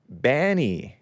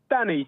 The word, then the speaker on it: Danny: as well all right Banny am I pronouncing your name correctly out of the UK out of England how do you spell it man it's uh Danny d a n n y oh Danny with with